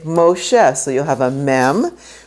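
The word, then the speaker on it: משה: Moses' name, when you're reading from a Chumash, will say Moshe. So you'll have a mem with this O right there, and you pronounce the O, and that's how you get Moshe, the O.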